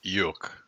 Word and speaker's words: Eikooc: The K silent? Eikooc. Yeah, it's Eikooc, silent okay.